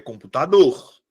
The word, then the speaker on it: computador: Qual é a que eu pronuncio com mais força? Tá aqui, minha sílaba tônica. É computador ou é computador? É computador. A minha sílaba tônica não é a antepenúltima. Ou não é a penúltima, perdão.